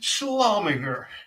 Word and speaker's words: Schlumminger: Twitwit with a huge shout out to Schlumminger. Schlumminger. Am I saying that right, Jed, or is that wrong? What, Schlumminger? Yeah, is that the right way to say it?